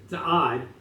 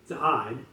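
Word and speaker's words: צעד: The Hebrew text of the Bible in Isaiah 63:1 does not use the word for marching, which is za'ad, with a D at the end, za'ad.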